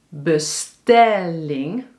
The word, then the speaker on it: bestelling: Bestelling, dus de klemtoon is op stel, dus bestelling.